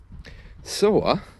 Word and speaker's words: soar: Soar, S-O-A-R. And as usual, with London accents and in received pronunciation, the R is generally silent. Soar.